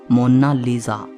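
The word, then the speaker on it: Monna Lisa: कोई इसे मोनालिसा कहता है तो कोई मोनालिसा कहता है। लेकिन इटालियन में इसकी करेक्ट प्रोनाउंसिएशन है मोनालिसा।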